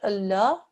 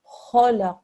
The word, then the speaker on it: Allah: well done ok and here there is a word Allah the letter just before that actually carries a stroke is a ball carries a fatah this lung is a thick and heavy well done so when